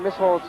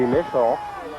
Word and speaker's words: Mischel: We've been pronouncing Mischel's name wrong. We've been saying Mischel, but it's Mischel.